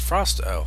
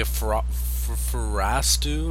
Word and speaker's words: Frosto: My name is pronounced Frosto. Haha. Not many people can pronounce it correct the first time. So well done. So I was right. And boo boo. Thanks for my question. You said you were trying to say Frostu or something like that.